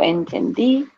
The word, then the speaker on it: entendí: Sí, yo entendí la película. Make sure you have the accent on the I.